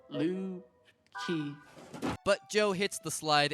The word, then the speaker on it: Lucy: That means guitar in Icelandic. It is actually pronounced Lu-ki.